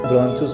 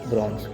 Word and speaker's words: bronchus: इसको आप चाहे तो प्रोनाउंसिएशन करा सकते हैं, ब्रॉन्चुस बोले या फिर ब्रॉन्स, ठीक है।